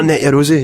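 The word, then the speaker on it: Net Yaroze: Net Eurosi? Oh, Net Eurosi, yeah.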